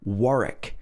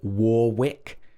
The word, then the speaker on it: Warwick: silent w's for example warwick we don't say warwick the second r is silent it should be warwick warwick also beric beric